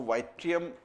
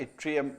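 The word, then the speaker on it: yttrium: और एक है जिसको हम बोलते हैं एट्रियम, ऐसे तो वाइट्रियम भी आप बोल सकते हैं, बट एट्रियम इज the correct pronunciation.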